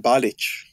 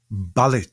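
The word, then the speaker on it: Balić: Balic. Balic. So the C should have an accent on it in the Yugoslav ch sound.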